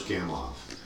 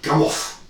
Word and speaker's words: Gamow: It looks like it's spelled Gamow because it's Gamow, but it's Russian, and it's not a W, it's a double V pronounced V. George Gamow. Almost like two F's, technically.